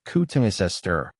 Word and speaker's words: Cotoneaster: Katoni aster pronounced coutungisester is a genus belonging to the rosacei family which also includes roses, apples and pears.